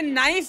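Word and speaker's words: knife: नहीं बोल रहे हैं जैसे नाइफ में क साइलेंट होता के साइलेंट होता है।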